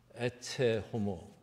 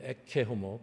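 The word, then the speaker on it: Ecce homo: 유명한 라틴어 에체 호모 또는 에케 호모, 발음 두 가지 다 가능한 발음인데, 보라 이 사람을, 이렇게 얘기하는 것이죠.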